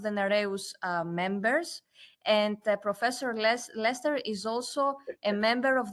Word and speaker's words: Leicester: University of Leicester in Leicester, if I say that correctly. It's written in two different ways, but the pronunciation, I know it's the same.